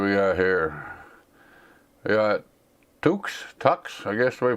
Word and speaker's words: Tux: We got Tux, I guess the way you pronounce that, T-U-X, Tux.